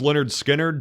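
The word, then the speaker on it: Lynyrd Skynyrd: would be like, it could be anything from, Pronounced Leonard Skinner to Good Kid, Mad City by Kendrick Lamar to like, let me think, Black Sabbath by Black Sabbath.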